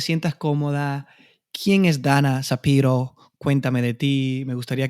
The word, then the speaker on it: Szapiro: Bueno, mi apellido es un poco raro cómo se escribe, pero es Shapiro.